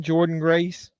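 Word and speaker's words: Jordynne Grace: in TNA and how about what's their Champion Jordan Grace is how you pronounce her name she may end up appearing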